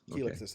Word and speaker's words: Calexis: Oh, Kelixes. Kelixes. Okay. Oh, there you go. Whatever. There's no A there.